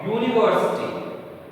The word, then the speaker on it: university: He is going to a university. In this word, first word is U, which is a vowel, but pronunciation is U. Voice sound, है ना?